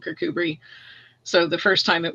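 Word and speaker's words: Kirkcudbright: everybody reading the book remembers to call it kirkuber even if they don't doesn't matter um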